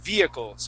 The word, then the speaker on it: vehicles: let's practice the word Vehicles okay here we're not going to pronounce that H and it's uh uh it's more often pronounced uh like this so uh via vehicles vehicles vehicles okay good okay uh the